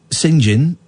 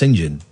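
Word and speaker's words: St John: The Cathedral of Singin the Baptist, how you'd say it, isn't it? Sing. No, St. John. Yeah, but it would be pronounced Singin in Norwich.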